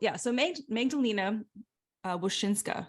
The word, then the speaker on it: Magdalena Wosinska: So Magdalena Wosinska, is that correct?